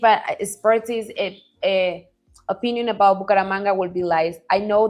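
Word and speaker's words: Bucaramanga: Do you know anything else about Buka Moranga? If I and I know I pronounced that incorrectly. Paramanga. Buaang. It's like manga car manga manga. Did I get it? Yeah. Bukara manga.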